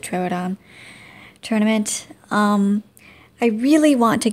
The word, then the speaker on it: Troodon: I pronounce it Troodon.